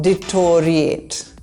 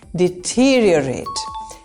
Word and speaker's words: deteriorate: This is not deteriorate. This is deteriorate. It's a long word with 5 syllables, and the pronunciation has deteriorated over time. There is no O sound in the word.